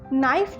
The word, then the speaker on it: knife: नाइफ जो word है यहाँ पर के से स्टार्टिंग है, पर उसका साउंड है न, क्योंकि यहाँ पर के साइलेंट है।